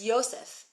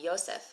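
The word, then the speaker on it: יוסף: at all Yakov also Joseph Joseph is ysep it's with a with it's with a yud which we're going to learn probably on Sunday we'll see cool that's right taong Yosef actually one of my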